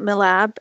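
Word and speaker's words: MILAB: and there is also mill AB or my lab which you know about right I pronounced it my lab and I also have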